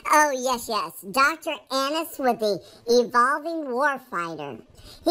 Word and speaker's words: Annis: It's pronounced Annis. Oh, yes. Dr. Annis with the Evolving Warfighter.